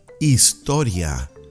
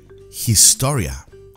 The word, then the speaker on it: historia: next a signatu de Astoria don't forget the H is silent I do not say historia you pronounce a des